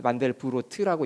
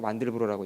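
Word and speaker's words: Mandelbrot: 폴란드식으로 읽으면 만델브로트라고 있고 불어로 읽으면 뒤에 t를 빼가지고 만델브로라고 있고 그러죠.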